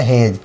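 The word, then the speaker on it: hedge: देखिए एच से ह ई से हे और जी से क्या हो गया? हेज यानी हमें डी को नहीं पढ़ना है।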